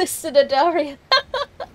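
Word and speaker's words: Seridia: over the waterfall or SE is the sea is silent the sea in what oh oh oh this the sadaria the sadaria that's funny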